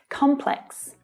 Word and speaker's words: complex: Complex. Now, in standard British English, there's just one way to pronounce this word, with the stress on the first syllable.